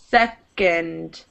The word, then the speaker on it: second: good second second good so the o and d it almost sounds more like an ind and you do pronounce the d it's a d sound second it doesn't turn into a t here that's only when it's